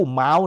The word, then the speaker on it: เม้าท์: สามเณร กับ หลวง ปู่ เม้าท นะ ออก เสียง เม้าท นะ แต่ บาง คน ก็ บอก ว่า หลวง ปู่ เม้าท์ นะ หลวง ปู่ เม้า วัด